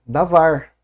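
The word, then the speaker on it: דבר: Ele é davar, né? Claro que pronunciado como se fosse um beit, né? Já que o beit e o veit são a mesma letra.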